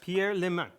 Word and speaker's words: Pierre Le Manh: start yes Pierre lemon yes perfect um my French is a little rusty I know a little bit actually it's a Vietnamese name what really yes I